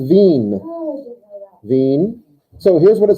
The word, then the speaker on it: Wien: of that town before capital of austria vienna vienna but in german it's just veen so here's what it